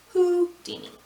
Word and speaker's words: Houdini: have houdini and that's i say who because it's spelled like that it's got a w at the beginning of it so it's who dini again sorry for the